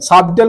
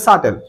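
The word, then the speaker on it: subtle: প্রথম তাহলে ম্যাথমেটিক্স কি সাটেল সাবটেল বলে দে সাটেল উচ্চারণ হচ্ছে সাটেল সাটেল মানে একদম সূক্ষ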